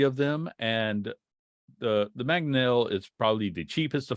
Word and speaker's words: Mangonel: how to pronounce this, Maginot. Yeah, I figured that's what a Maginol. Yeah. Mangonel. It's called Mangonel.